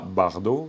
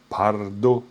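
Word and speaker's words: བར་དོ: Bardot, non, c'est pas Bardot, c'est Pardo. Pardo. Parce que quand vous avez un premier mot, quoi, si vous dites Pardo, les fameux Bardot pour nous en français, c'est par en termes de prononciation. Attention, tranquille, hein, vous n'êtes pas obligé de bien prononcer pour l'instant. Je vous le donne comme info, c'est tout. Donc, tranquille. Mais c'est pardo.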